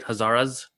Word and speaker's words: Hazaras: So where does the Hazaras, am I pronouncing it right? Hazaras?